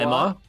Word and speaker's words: Lima: We have a Lima, not Lima.